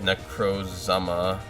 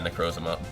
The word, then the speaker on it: Necrozma: try and power up necro's zama i i know it's not pronounced that way it's uh necrozma but i'm pretty sure